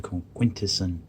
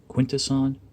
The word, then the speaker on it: Quintesson: line this is the quintessent judge now it's funny uh over the years i've heard uh two different pronunciations quintesson or quintessen i've always usually say like quintesson who are from quintessa that little bit of a